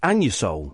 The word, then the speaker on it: Anusol: It's pronounced Anusol.